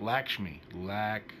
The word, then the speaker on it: Lakshmi: Lakshmi. Is that how you say it? Lakshmi.